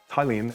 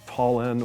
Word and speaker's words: Tallinn: Tallinn, pronounced Tallinn and not Tallinn or Tallinn, is the capital.